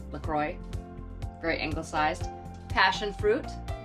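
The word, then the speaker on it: LaCroix: then it's this La I would say laqua but I believe they pronounce it lacroy very angle sized passion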